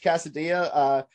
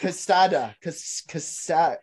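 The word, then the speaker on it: Quesada: Judge Casadilla. I said that wrong. It's not Casadilla. Delicious. Casada. I don't know how to say it. Q-U-E-S-A-D-A. Casada. Casada.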